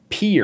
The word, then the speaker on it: Pierre: Pierre. Okay. Pierre, which I know it's pronounced Pierre, even though it's spelled Pierre.